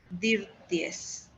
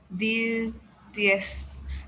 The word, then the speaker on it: dirtiest: is the most, no, is dirt, that, dirty, dirt, I don't know, dirtiest. That's it. So the city is the The, dirtiest. Pueden pronunciarlo con T, dirtiest, or just dirtiest.